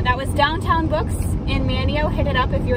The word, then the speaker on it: Manteo: you're in manchester manteo manteo manio us locals call it manio not manteo that was that was the name of the guy um but the town is pronounced manio also it's kerala not